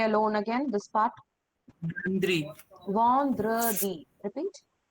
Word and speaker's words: vendredi: Vandri, Vendredi. Repeat. Vandradi.